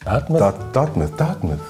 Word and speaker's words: Dartmouth: Dartmouth? Dartmouth. Bist du sicher? Dartmouth. 100 Pro. Pass auf nochmal. Das ist eine Christopher Ward C65 Dartmouth. Nein! Nein! Das wird nämlich wie Plymouth ausgesprochen.